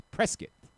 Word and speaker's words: Prescott: They said, "It's Prescott." Why is it spelled like biscuit then?